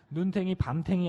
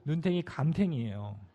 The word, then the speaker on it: 눈탱이 감탱이: 네, 발음을 좀 주의해 주세요. 눈탱이 밤탱이 아니고 눈탱이 감탱이에요.